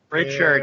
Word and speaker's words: Richard: Richard. Yeah. It's not Rickard. There's an H in there, bud. You can pronounce it however you want, Rickard or Richard.